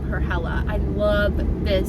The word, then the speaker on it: Hela: The correct way to say my new name is Hela, like Bella, but with an H, Hela.